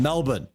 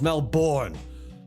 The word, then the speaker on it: Melbourne: the way they do I'm from Melbourne Melbourne not Melbourne all you Americans saying it is Melbourne you are wrong you are infecting me